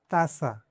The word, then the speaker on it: taza: The Spanish "T" is pronounced with the tip of the tongue touching the back of the upper front teeth, making it softer than the English "T".